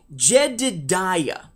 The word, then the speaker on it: Jedidiah: not actually a jedi his name is he's pronounced this correctly jedidiah j-e-d-i-d-i-a-h with the nickname jedick okay the story